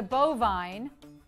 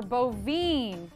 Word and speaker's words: bovine: A cow is a bovine, or bovine, yes. Weirdly, this one can be pronounced either way.